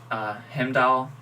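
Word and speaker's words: Heimdall: to yeah yeah regardless right off the bat him doll that's how you pronounce his name going stab and he got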